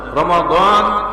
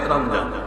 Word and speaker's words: রমাদান: কোন মাস রমাদান রমজান রমাদান আর বিশুদ্ধ উচ্চারণ ফার্সি উচ্চারণে রমজান আমরা রমজান শরীফ পড়ি একসময়ে আমরার এই